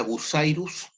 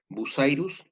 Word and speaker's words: Bucyrus: Una es la Bucyrus, se escribe con B larga, U-C-Y-R-U-S, Bucyrus, y también está la PIH, PIH.